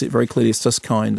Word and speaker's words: Suskind: I've always thought it was Suskind, but he's been pronounced it very clearly as Suskind, as in kindness, son of award-winning journalist Ron.